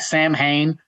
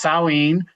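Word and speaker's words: Samhain: It looks like Sam Hayne, but it's pronounced Sawin.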